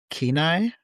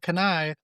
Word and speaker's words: Kenai: And I also want to go back up to Alaska to do the Kenai Mm-hmm. Peninsula. Mm-hmm. It sounds like Kenai, looks like Kenai, but it's Kenai.